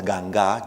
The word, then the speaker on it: Ganga: African captives, known as Ganga, G-A-N-G with an accent on the A, in colonial Cuba did not constitute a uniform ethnic or religious grouping.